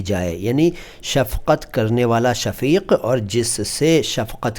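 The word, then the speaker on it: शफ़ाक: इसके बाद शफाक देखिए मैं सफाक नहीं कह रहा हूं। उच्चारण का खास ख्याल रखिए। सफाक दूसरा शब्द है।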